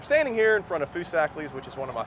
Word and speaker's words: Foosackly's: That's Foosackly's. I made an entire video about pronunciations, and the reason I did that is because it's very important.